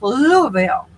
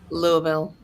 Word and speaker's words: Louisville: I lived in Louisville, and that's how it's pronounced, Louisville. Louisville. Mm-hmm. Mm-hmm. That aren't from there pronounced it Louisville, but it's actually pronounced Louisville.